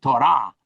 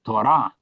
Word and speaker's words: Torah: We use the word law for Torah, but it's really Torah, as we say it in Hebrew, because accent falls on the last syllable, Torah. But in English, we say Torah.